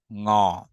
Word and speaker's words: ঙ: সেটা হলো, আমরা যে উঁ বলতাম, উঁ উচ্চারণটা আসলে সঠিক নয়। উঁ বলে এখানে কোনো ধ্বনি আসবে না। এখানে উঁ বলে কোনো ধ্বনি নেই। আছে কি, আছে হচ্ছে ঙ।